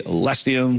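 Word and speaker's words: Leccinum versipelle: It is a Lecinium versipel. There you go. Lecinium versipel. Some people say Lestium, some people, it's slightly different when it comes to how the Latin is pronounced.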